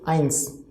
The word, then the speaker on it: eins: e and i c whenever e i will come together pronunciation is i right then and answer so overall pronunciation is eins eins this e i